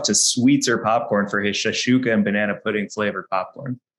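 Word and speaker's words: shakshuka: Shashuka?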